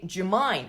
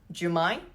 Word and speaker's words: do you mind: switch on the light notice I say jine I switch on the light do you mind in spoken English is pronounced as J jine thank you come M